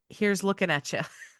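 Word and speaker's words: Heerz lukenatcha: It's a wasp and it's pronounced here's looking at you.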